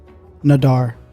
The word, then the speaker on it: nadar: Nadiyar. I'm pretty sure. I thought you were saying Nadia. It's close. Nadar.